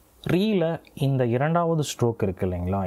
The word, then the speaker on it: ロ: இதே வந்து உச்சரிக்கப்படும் பொழுது ரோ அப்படின்னு வந்து உச்சரிக்கப்படுது அப்படின்றத நீங்கள் நினைவில் வச்சுக்கோங்க.